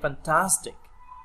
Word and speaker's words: fantastic: Đấy, fantastic, âm x, nhấn ngay âm trước đó nhá.